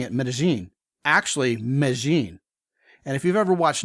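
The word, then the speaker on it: Medellín: town is as I'm saying it medine actually Meine and if you've ever watched Naros on Netflix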